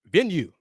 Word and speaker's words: Venu: right here venue Sports venue pronounced like you say venue venue Sports the Innovative